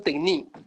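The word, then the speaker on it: τέχνη: Algunos lo pronuncian tecní, yo lo pronuncio tecní.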